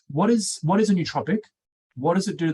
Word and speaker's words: nootropic: nootropic or nootropic um i just say nootropic same as what you're saying as if it's like new as in something that's not